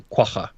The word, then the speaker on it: quagga: in South Africa, and it's actually called a quagga. So that's how you pronounce it.